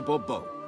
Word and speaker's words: Bourbeau: I expect you to address me as Sir, or better yet, as Monsieur de Bourbeau. Fine. Monsieur de Bourbeau. The emphasis falls on the last syllable.